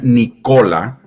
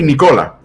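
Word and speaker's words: Nikola: de su nombre y le llamen nicola y no ni cola porque el chico la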